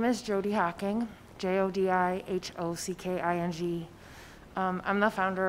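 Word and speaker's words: Jodi Hocking: on and then state your name and and spell it for the record and then go right ahead okay my name is jody hawking j-o-d-i-h-o-c-k-i-n-g um i'm the founder of return strong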